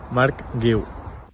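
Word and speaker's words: Marc Guiu: Mark Gu. I just forget how it sounds. That's the problem. Mark Gu.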